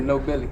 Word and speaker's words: Nobley: I pronounce it No Billy.